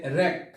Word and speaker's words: wreck: এরপর হচ্ছে র্যাক। র্যাক, এখানে কিন্তু ডাব্লিউ উচ্চারণ হয়নি।